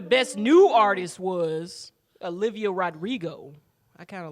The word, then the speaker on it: Rodrigo: know who the best new artist was olivia rodrigo i kind of like she has this one song that i listen to i kind of like but yeah i saw that olivia rodriguez rodrigo yes yes and i did see a picture